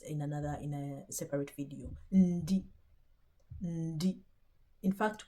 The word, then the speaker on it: ndi: Ndi. In fact, when you're pronouncing it, you can hear a little bit of a n.